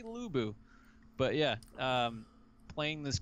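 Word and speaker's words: Lu Bu: was gonna say yeah the x is silent but it was meant to be silent but everyone calls me lux buu it should be lubu but yeah um playing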